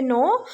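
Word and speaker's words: know: जानने की इंग्लिश होती है नो, कि यहाँ पे साइलेंट है।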